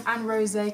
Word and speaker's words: Aronsè: Me again, I'm very bad at pronouncing names, but it's got that like little E thing that Beyonce has at the end of the name and it says Beyonce.